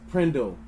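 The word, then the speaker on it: PRNDL: The gear selector is often called the P RN N DL pronounced prindle.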